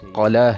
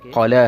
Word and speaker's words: قلعہ: پڑھتے اور بولتے ہیں، جبکہ یہ قاف کے نیچے زیر نہیں ہے، اس کا جو صحیح تلفظ ہے وہ قاف کے اوپر زبر کے ساتھ ہے، یہ قلعہ ہے، قلعہ نہیں ہے بلکہ قلعہ ہے، قاف کے اوپر ہمیشہ زبر کے ساتھ استعمال ہوگا۔ اگلا غلط لفظ سمت